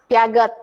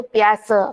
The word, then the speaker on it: Piaget: namanya tokohnya adalah piase mungkin tulisannya Piaget Tapi bacanya biasa kenapa dia ini adalah orang Perancis ya jadi jangan kalian membacanya Piaget Tapi bacanya itu piace karena dia orang Perancis nah saya langsung